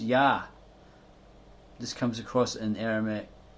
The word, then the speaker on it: Yah: It is known that the first syllable is Yah.